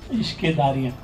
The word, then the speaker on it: Ishqedarriyaan: So please pronounce it. Ishqedarriyaan.